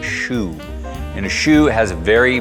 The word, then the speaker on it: choux: from kentucky that's a chokes pastry but it's actually pronounced a shoe and a shoe has